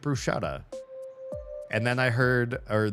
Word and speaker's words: bruschetta: If you look at how it's spelled, there's no sh in the word. So, where are you pronouncing it? Bruschetta.